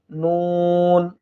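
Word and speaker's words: نون: এরপরে নুন নুন, অর্থাৎ জিহ্বার অগ্রভাগটা উপরের তালুর সঙ্গে লাগিয়ে দিলে আমরা নুন হরফটি পেয়ে যাব ইনশাআল্লাহ, নুন নুন।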